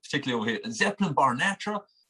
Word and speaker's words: Zeppelinbarnatra: It's pronounced Zepp, so Zeppelin, obviously Led Zeppelin. So Zeppelinbarnatra is how you say it. Shut up! It's madness. Honestly, everyone does the same things. Like, particularly over here, Zeppelinbarnatra.